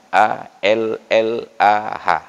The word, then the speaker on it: Allah: fasih ingat ke Allah padahal Allah itu dia harus tafkhim dibaca harus ada bunyi O nya Allah jadi anomali dalam